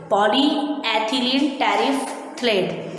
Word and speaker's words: polyethylene terephthalate: polyethylene terephthalate. Student pronunciation आपको सही से करना है.